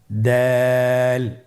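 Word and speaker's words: دال: দাল হরফটিও বারিক হরফ। উচ্চারণ করার সময় অবশ্যই 3 আলিফ টেনে পড়তে হবে। দালের মাখরাজ হলো জিহ্বার আগা সামনের উপরের 2 দাঁতের আগার সঙ্গে লাগিয়ে উচ্চারিত হয়।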